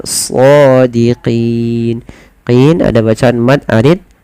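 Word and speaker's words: صَادِقِينَ: Melafal shadiqin, tebalkan sodnya karena dia bukan so, dia so ya, shadiqin.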